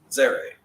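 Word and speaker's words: צֵירֵי: But Zere is how it's Zere. And it says A. A? A. Long A. Oh. A as in play.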